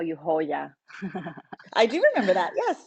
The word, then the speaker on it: joya: used to call you Hoya, I do remember that. Yes. and Well, that's how you say it and in the Spanish. Joya just wouldn't come out right. Hoya means jewel in Spanish, Mm-hmm.